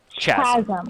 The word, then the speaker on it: chasm: It's pronounced chasm. Yeah, it is a chasm.